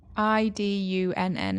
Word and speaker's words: Idunn: Idunn is how it's pronounced. I guess it'd be like Idun.